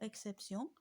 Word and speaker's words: exception: Et regardez même exception, le mot exception, sur le premier E, on le prononce E, mais on ne met pas d'accent parce qu'il est placé devant X.